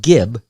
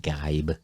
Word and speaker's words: Geib: 22 year old todd gibb guy i said gibb it's pronounced gabe was spending an afternoon